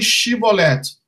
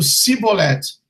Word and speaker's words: Shibboleth: A palavra escolhida foi Shibboleth, pois a população de Efraim pronunciava o S de uma forma diferente, dizendo Siboleth, sendo imediatamente detidos e mortos.